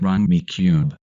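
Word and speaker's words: Rummikub: Duh, in order to do that, you have to beat me at Rummy Cube. Rummy Cube, what's that? Apparently it's a correct way to pronounce Rumikube.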